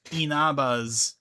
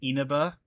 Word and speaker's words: Inaba: or new inabas like inabas you mean ina instead of inaba also offers